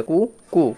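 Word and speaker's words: cuckoo: তাহলে উচ্চারণটা কি পেলাম? সি ইউ তে কু সিটা সাইলেন্ট আর কেতে হচ্ছে ক আর ডবল ওতে কু তাহলে কু কু কুকু মানে হচ্ছে কোকিল।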